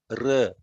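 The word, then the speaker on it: ऋ: this am, am, im, rum, r. It is not to ru, it is r.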